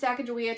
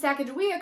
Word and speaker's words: Sacagawea: Larry introduces Sacagawea to Akhman-Ra and Nikki, and Sacagawea corrects him on the pronunciation of her name, saying it's Sacagawea.